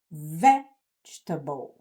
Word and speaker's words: vegetable: Então, esta palavra em inglês é pronunciada vegetable. Vegetable. Percebem? Ela tem inclusive um som tônico que a gente não tem também no português.